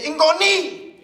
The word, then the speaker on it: ngoni: Say it like this. Say ingoni.